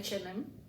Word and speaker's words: H&M: euh hmm H&M HM en fait on prononce comme en anglais normalement s il y a le Brand étranger quoi on dit H&M bon si on on prononce pratiquement comme en indonésien ça sera ha dan m mais on dit pas ça on dit H c'est en français wouh quand